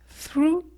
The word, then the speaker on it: through: réponse i like walking through the forest on est dans le cas de figure là on a le thrr à chaque fois qu'il y a th h r plus le G ça donne through 3è phrase oui chocolate